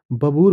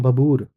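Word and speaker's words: Babbur: बबूर बोलते हैं, बबूर। या अपनी प्रोनाउंसिएशन में कुछ और भी बोल सकते हैं, बट इसको बबूर बोलते हैं।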